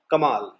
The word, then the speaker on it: कमाल: Plus कमाल, माँ जो है यहाँ पे उसका जो देखिए आप उच्चारण थोड़ा लंबा हो रहा है, कमाल, तो जितना लंबा उच्चारण हो आकार में वहां पे हमें डबल ए का यूज करना पड़ेगा।